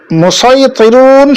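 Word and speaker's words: مصيطرون: মুসাইতিরুন শব্দটির মধ্যে আমরা সদ উচ্চারণ করে পড়ব।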